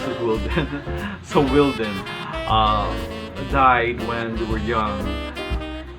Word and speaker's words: Wilden: Pronounced as Wilden.